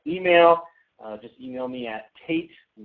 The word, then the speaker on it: Tayt: Just email me at Tate, and it's spelled a little differently.